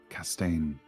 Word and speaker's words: Castaigne: It's Castaigne. Castaigne. Yeah, okay. it's French.